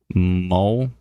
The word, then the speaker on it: Montmartre: Okay, so it's Momart, spelt MONTMARTRE. Momart. Okay. Anyways, Melinda says Momart, LOL.